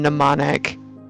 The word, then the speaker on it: mnemonic: And then they wanted you to give like some answers, like keeping the M in mnemonic keeps it near its Greek root.